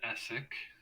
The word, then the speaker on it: Essek: I am Essek. Essek, Assesk. Essek. The third S is silent.